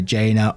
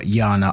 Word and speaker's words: Jana: a name j-a-n-a and I know it can be pronounced a couple of ways either jaina or Jana I'm gonna go for Jana in this one and I just